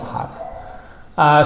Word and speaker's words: have: Fija siempre la pronunciación del have es como un of.